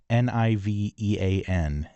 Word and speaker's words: subnivean: Okay, subnivian. Subnivian. Subnivian. Subnivean. That's how this is spelled.